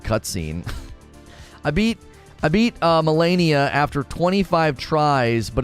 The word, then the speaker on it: Malenia: tragic and so unenjoyable it's pronounced melania melania great well i just did an open and a recording with me saying molinia melania molinia hey macarena i mean what